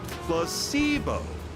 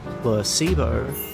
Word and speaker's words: placebo: Placebo. H. The stress is on the middle syllable. Placebo.